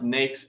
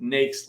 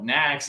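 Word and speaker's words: NAICS: next codes in there they've got a line that says it's pronounced nakes like snakes i was like oh i used to call it next i used to call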